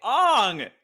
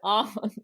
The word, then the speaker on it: Aang: like oh wait no there's a g at the end and so I pronounce it on well if you also